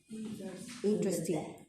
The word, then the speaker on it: interesting: Lo único es que el acento va al principio. Interesting.